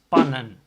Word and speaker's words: pannen: If you make it plural, plural for pan is pannen. Still the A sound. Why? Because there's a double consonant after the A. So there's NN after the A. That makes the pronunciation of the A an A.